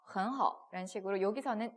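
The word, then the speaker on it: 很好: 그래서 我很好 그러면 이제 很好 헌과 허가 삼성 붙였으니까 제가 계속 이성으로 읽는 겁니다.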